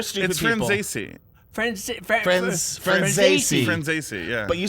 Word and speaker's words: Franzese: I was gonna say because it rhymes with Scorsese. Franzese.